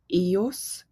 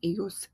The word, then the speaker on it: ellos: They, all males, ellos. They, all females, ellas. And it follows the same thing with that y sound for the double L.